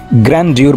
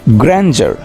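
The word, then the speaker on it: grandeur: So goat is the right pronunciation of goat. Next, জাকজমকের ইংরেজি তোমরা অনেক সময় গ্র্যান্ডিউর বলে থাকো।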